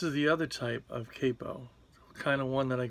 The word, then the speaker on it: capo: This is one type of capo. Some people say capo, but I think that that's a mispronunciation.